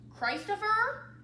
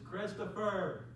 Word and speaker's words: Christopher: next do we have a price to fer Christ of her Christ Oh fer it's Christopher you're all gonna need